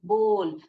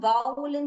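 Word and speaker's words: bowl: இது வந்து OW கூட ஓ, போ, போல். அதனால்தான் பவுல்னு சொல்ல மாட்டாங்க, அத போல்னு சொல்லணும். போல், bring me அ போல் of grapes அப்படின்னு போல்னு தான் ப்ரொனவுன்ஸ் பண்ணணும். அத நிறைய பேர் பவுல்னு சொல்லுவாங்க.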